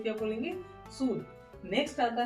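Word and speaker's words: sud: सूद। Okay, अब यहाँ पे डी का पूरा प्रोनाउंसिएशन है, डी का पूरा पूरा साउंड आ रहा है। ओके, ये ध्यान रखने वाली चीज है।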